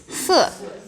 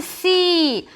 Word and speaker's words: 四: This one 是 Yes, 四 Not C. Not, if you try to say E, sounds like this one. So, not, okay? Just 四 Yeah, 四 So this one 是14